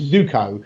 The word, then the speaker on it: Zuko: It's pronounced as Zuko, so Zoom and coffee.